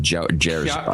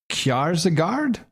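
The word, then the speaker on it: Kjærsgaard: It's like Jergard. No, I'd say Kjaersgaard.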